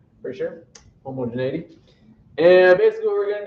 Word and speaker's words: homogeneity: tests the first one is i think it's pronounced homogeneity for sure homogeneity and basically what we're going to do is